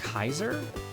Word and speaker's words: Caesar: Did you know that Caesar is pronounced like Kaiser?